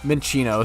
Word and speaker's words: Minccino: naming them Kratos is pretty funny I heard men shot yeah Minccino sorry I could totally see how I could mispronounce it or say it make it sound